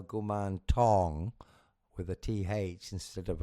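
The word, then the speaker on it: Kuman Thong: to refine that that if you spell it with th you're going to say gum thong as if you're wearing a sexy thong and that's not Right. It's gum tong with a t.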